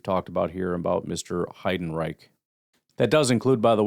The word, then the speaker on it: Heidenreich: Hiden Reich. That does include, by the way, the pronunciation guide, which apparently is Hiden Reich.